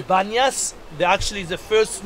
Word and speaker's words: Banyas: It's called Panias because for Muslims' time they cannot pronounce the letter P. Instead of P, they say Be, Banyas.